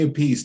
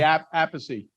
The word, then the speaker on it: Appice: up your alley with me today is vinnie apiece the drummer of many black sabbath albums and